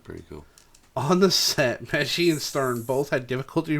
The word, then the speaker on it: Pesci: Yeah, Pesci, yeah.